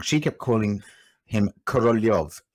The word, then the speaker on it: Korolev: she kept calling him Korolev. He's spelled K-O-R-O-L-E-V, but K-O-R-L-Y-O-V is the way I see it in my brain.